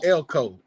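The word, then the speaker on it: Elko: Mike Elco.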